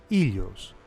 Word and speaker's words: Helios: Overall, Phaethon is usually described as being the son of Helios, in Greek pronounced Ilios. In some other accounts, like Hesiod, Helios is his grandfather.